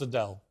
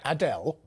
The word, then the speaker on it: Adele: Let me just, before I let you go, how do you pronounce Adele? I know, Adele. You just said it. Adele. Right, let's listen to Adele today. Adele. Where's she from? Enfield or something? Love that. She said my name perfectly. Yeah. He came and asked me how I say my name, and I was like, Adele. How's and she was mine? like, hi, Adele. They do it. Adele? Adele. Yeah. Adele. Now, you see, it's actually Adele.